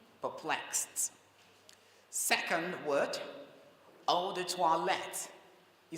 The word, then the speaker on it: eau de toilette: Second word, eau de toilette. You spell that word this way, E-A-U-D-E-T-O-I-L-E-T-T-E.